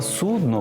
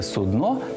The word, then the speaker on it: судно: і корабель все одно судно з наголосом на о слова судно в українській мові немає і ніколи не було і Ось вам фраза для запам'ятовування наголосу російське судно пішло на дно це про крисер Москва